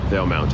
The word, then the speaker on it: Valemount: Veil Mount Veil Mount Veil Mount is how you say it but now that this